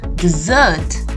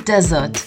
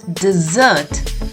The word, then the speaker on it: dessert: dinner it is a dessert a dessert not a desert which is a Sandy place without any rain it's a dessert the stress is upon the double s a dessert now we